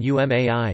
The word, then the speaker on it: 上手い: In addition, shangshou I has the reading umai, skilled.